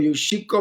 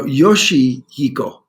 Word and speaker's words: Yoshihiko: Yoshiko. All right. Did I say that right? No, Yoshihiko.